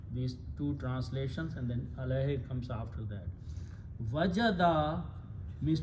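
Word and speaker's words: عَلَيْهِ: It does not change the who, but in the tajweed only recitation, we pronounce who as he. Alayhi means upon it, or upon that, or of that.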